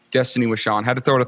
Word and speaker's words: Destaney Wishon: Today we have Destaney Wishon. Destaney Wishon, and I only said it twice because I'm so proud of myself for saying it right the first time. Destaney Wishon.